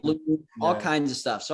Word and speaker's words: Holumb: You said Holumb, right? Yeah. I just want to make sure. Yeah. That's what. But it's been Holumb. Right. Holumb, all kinds of stuff.